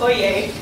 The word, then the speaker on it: Oyez: surprisingly also sean i know also it is pronounced oye yeah yeah so we can go into a